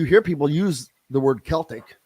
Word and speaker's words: Celtic: for decades Celtic the Celtics it's Celtic is how you properly pronounce that I don't know why we softened the C on that well that seems like